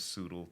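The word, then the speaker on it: Tsoodle: and like i'm like the t is silent you know i just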